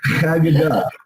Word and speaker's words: Haggadah: Haggadah.